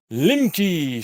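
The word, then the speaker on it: Lemke: It's not even that far with my fucking really high specific impulse, long-lasting plasma and ionic fucking Limke space engine.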